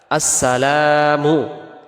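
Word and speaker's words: السلام: আসেন দ্বিতীয়টা আসসালামু আলাইকা আসসালামু এখানে লামের পরে যে আলিফটা আছে এটাকে এক আলিফ টান দিতে হবে আমরা যদি এক আলিফ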